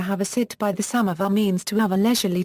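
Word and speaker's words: سماور: In Iran, samovars have been used for at least 2 centuries, and electrical, oil-burning or natural gas-consuming samovars is still common. Samovar is pronounced samovar in Persian.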